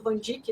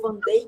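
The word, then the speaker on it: van Dijk: exemplo, que tem a do Vandic, né? ou Van Day, que depende da pronúncia.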